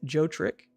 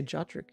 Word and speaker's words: Jotrick: Is it Joe Trick? I mean, I say Jotrick.